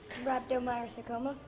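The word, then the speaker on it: rhabdomyosarcoma: gabe was diagnosed with rev up rabona sarcosis right there how do you say that game i can say it raptor meyer sarcoma yeah that's it that's right i i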